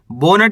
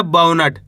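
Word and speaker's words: बौनट: Balm औ की मात्रा बौ, ना और टा मिल जाएगा तो बाउनट। बोनट ही नहीं पढ़ना, बाउनट।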